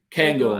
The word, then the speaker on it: Cairngorm: Romy wants someone to pronounce Cairngorm. Cairngorm.